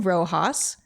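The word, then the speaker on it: Roxas: game it's by Lynn Rojas and Rojas is spelled r-o-x-a-s and you can find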